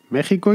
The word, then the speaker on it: México: sacada del equis pero la pronunciación es con jota así que ya sabéis en español se dice méxico y se dice texas aunque se escriban con